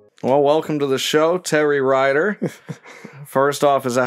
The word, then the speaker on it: Terry Rider: you would well welcome to the show terry ryder first off is that how you pronounce that yes it is show is s-h-o-w